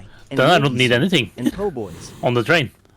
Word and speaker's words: gnocchi: Gnocchi. Gnocchi. Gnocchi. I said gnocchi. I think you are pronouncing it correctly, Paka.